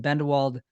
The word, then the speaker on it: Bendewald: the opening but I'd say my name's bendelwald I've produced and directed Fitness videos for the